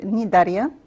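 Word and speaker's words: Cnidaria: the second phylum is called nidaria sometimes we pronounce its nidaria but it's nidaria aquatic marine animals and live individually or in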